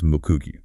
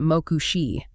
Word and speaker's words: Moku-Gweyuu: But he explicitly demands that it be read strictly as Moku-Gweyuu. Right. He goes out of his way in the source material to tell the reader, do not pronounce it Moku-shi. Do not call me Damaju. It is absolutely not Damoyu or Damariushi or, Damoshi. It is Moku-Gweyuu.